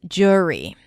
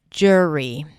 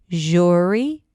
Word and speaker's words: jury: Make sure you pronounce the D sound at the beginning. J, and not jury, but jury. Some people might reduce the sound and just pronounce it as jury with an as in stir, jury.